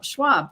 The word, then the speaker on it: Schwab: interviewing Abby Worthington and Rochelle Schwab right last name that's I pronounce that right like Charles Schwab like Charles Schwab I